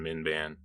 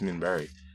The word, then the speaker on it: Minbari: So thank you, Michael Papp and Minban. Or Minbari. Minbari. Is it Minbari? Yeah, it is Minbari. Sorry, I mispronounced that.